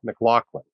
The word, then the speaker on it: Maclauchlan: the white coat investor podcast is Dr Adam McLaughlin did I pronounce that right Adam yes sir you did